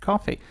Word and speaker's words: Ko-fi: It's spelled funky, but it's pronounced coffee.